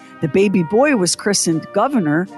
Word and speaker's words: Gouverneur: baby boy was christened governor pronounced like the elected office but spelled like a fancy French cheese again your old money